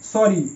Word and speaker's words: sorry: একই রকম স্টোরি, STO স্ট, RY রি, এখানেও ওয়াই এসে আই এর জায়গায়, মানে আই এর মতো উচ্চারণ আছে ওয়াইটা, স্টোরি। ঠিক একই রকম সরি, SORRY সরি, এখানেও আই এর জায়গায় ওয়াই এসে।